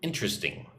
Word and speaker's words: interesting: So look at the word interesting. Right, when I say the word interesting, I only say it with 3 syllables.